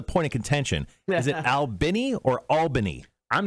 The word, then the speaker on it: Albany: Albany. Albany.